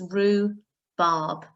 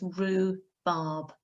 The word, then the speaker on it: rhubarb: is the word rhubarb it has a silent h in it okay so you don't pronounce the h it's rue barb and the u is making the oo sound okay so it's rue barb next up i'd like